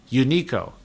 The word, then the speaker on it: Uniqo: It's spelled Uniqo. Unico.